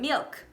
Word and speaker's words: milk: by Brazilians is to add an "i" at the end of words, especially on unstressed syllables. So for example, the word MILK, right? It becomes MIUKI when said in the wrong way.